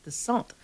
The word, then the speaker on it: Dicent: So the original pronunciation of Dicent is actually Dicent. And so it has a French background.